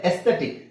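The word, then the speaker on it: aesthetic: ಅದರ ಅವಶ್ಯಕತೆನೇ ಇಲ್ಲ ಅಲ್ಲಿ ಆಮೇಲೆ ಎಸ್ಥೆಟಿಕ್ ಇಲ್ಲೂ ಎ ಇದೆ ಇಲ್ಲಿ a ಅವಶ್ಯಕತೆ ಇಲ್ಲ ಓಕೆ ಸೋ ನಮಗೆ ನಮಗೆ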